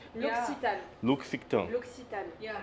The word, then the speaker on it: L'Occitane: L'Occitane.